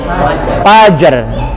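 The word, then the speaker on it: فجر: Salamun hiya hatta matlail fajar. Fajar, jangan paj. Kalau paj berarti hilang. Paj apa paj?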